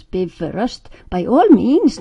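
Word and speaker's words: Bifröst: layer Biv rust pronounce Biv rust by all means not by Frost please and keep the accent on the first syllable as always in Icelandic I said name her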